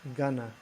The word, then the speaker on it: going to: Going to is usually pronounced gonna.